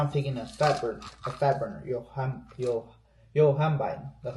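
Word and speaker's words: Yohimbine: So right now I'm taking a fat burner, Yohambine. That's how you pronounce it.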